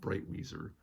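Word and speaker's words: Breitwieser: uh What uh Stefan I believe it's pronounced bright Weezer uh were like now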